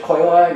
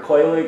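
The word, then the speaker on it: Quelaag: Her name is Chaos Witch Koilag, or Koilig. I think it's pronounced Koilag, though.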